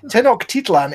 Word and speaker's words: Tenochtitlan: I keep wanting to pronounce it as Teotihuacan, but that's Teotihuacan. But it's not Teotihuacan, it's Tenochtitlan.